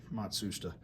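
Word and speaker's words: Matsushita: matsa rotary compressor and yes that is the correct way to pronounce it matsoua um is this one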